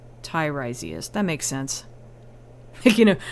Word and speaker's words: Tiresias: To break it down, correct way to pronounce it... Oh, your name. Tiresias.